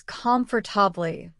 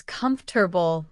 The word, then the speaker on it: comfortable: Many students pronounce it as comfortably with four syllables, but native speakers usually say it as comfortable with three syllables.